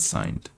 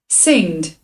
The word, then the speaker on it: singed: signed in several places no that's not signed let's see how it's pronounced singed singed it means burned slightly